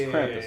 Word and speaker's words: Krampus: on trumpus Krampus yeah it's Krampus not kumus I say it kumus well you say it wrong no anyway anyway to